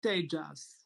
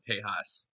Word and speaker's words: tejas: I was going to ask Josephus how to pronounce k is it Tejas it's apparently Tejas like Paige I have a bit of an